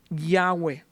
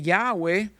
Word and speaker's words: Yahweh: Normalmente nosotros mencionamos Yahweh, la palabra y hhwh no tiene vocales. ¿Quién eres? Yo soy Yahweh. Oh, okay. ¿Por qué Yahweh? Para que sea imposible de pronunciar. Los judíos en su afán de no usar el nombre de Dios en vano, como dice el mandamiento en Éxodo, decidieron insertar las vocales de Adonay.